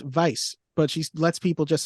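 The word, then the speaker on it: Weisz: actually clarifies she said it's actually pronounced Vice but she lets people just say Weiss so just like Brendan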